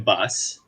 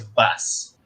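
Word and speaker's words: Baas: pinoy dutch guys justin bass and by the way quincy corrected me he pronounced his name as bass not ba and we'll get that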